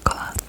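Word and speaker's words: Koa: It's spelled K-O-A, Goa.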